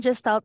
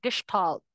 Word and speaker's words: gestalt: And what I want to share is about childhood approx of speech and gestalt language g language processing. Yun yung nakakapanibago kasi pero yun yung tama na pag-pronounce sa kanya. Gestalt Gestalt language processing.